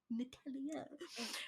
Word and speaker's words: Natalia: I'll be like, oh, it's actually with an A. It's Natalie, but with an A. Natalia.